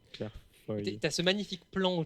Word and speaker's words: Claire Foy: Mais ça s'écrit Foïs comme. Non, mais elle, c'est un Y, Claire Foy. Mais je dis foi parce que je suis une connasse. Mais c'est Claire Foy.